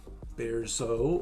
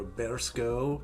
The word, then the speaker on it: Bierzo: a wine of place the place is berso or bears go depending on how you want to read that label but speaking in basque